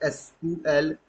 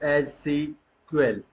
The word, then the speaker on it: SQL: structure query language and इट is pronounce as एसक्यूएल और some times एस सी कल ट means हुआ कि